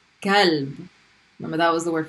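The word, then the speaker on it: كلب: Same as number one, but it's a light K sound. Kalb.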